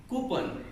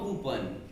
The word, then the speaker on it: coupon: Coupon, which means parcha. No coupon.